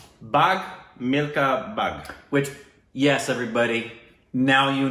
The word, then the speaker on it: Bhaag Milkha Bhaag: how you pronounce yeah, that right? Yeah, BHAAG MILKHA BHAAG, which is run, milk or run.